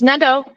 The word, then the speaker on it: Nadeau: Or is it, how do you pronounce it? It's Nadeau.